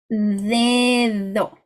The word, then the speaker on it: dedo: Okay, so the Spanish D needs to be pronounced like your TH in the or although. Therefore, I need to see your tongue every time you pronounce the D. So, dedo, dedo, adios.